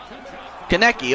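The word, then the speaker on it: Konecny: is uh who committed a tripping penalty again kaneki okay that's how you pronounce it okay although tanmay can only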